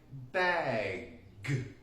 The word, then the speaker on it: bag: this is Lake Ontario okay enough of geography back to pronunciation the G is actually sometimes a very